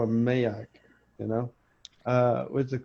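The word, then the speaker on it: Maax: I keep wanting to call him Mayak. You know, what's it called? Mayaks. Mayak. Just think of it like this. It's spelled Max with a double A.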